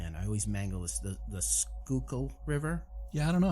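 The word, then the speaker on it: Schuylkill: I used to say Schuykill because that's what I thought, but it's actually Schuykill. Schuykill, and I always forget we'll call it Schuykill.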